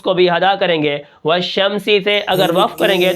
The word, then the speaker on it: والشمس: کس طرح ہوں گے، واو شین زبر والشین، میم زبر شم، والشم، سین زیر سی، والشمس، وقفا والشمس، ٹھیک ہے۔ اب یہاں پر